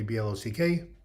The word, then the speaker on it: Bloch: The German pronunciation, but just call me BLOCK, like building block, communist block, mental block.